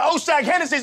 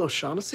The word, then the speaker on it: O'Shaughnessy: Now take your ass on down to Oshag Hennessy's office right now and tell him exactly what you did! Who? Oshag Hennessy! Principal O'Shaughnessy?